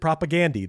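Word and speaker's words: Propagandhi: They said that they they pronounce it propagandi.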